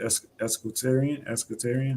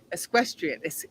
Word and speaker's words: equestrian: You have I guess you use what is it, escutarian? I don't know. I don't even know how to Yeah. pronounce the Es- word. oh, Escutarian. equestrian. Equestrian or equestrian, like equine, so equestrian.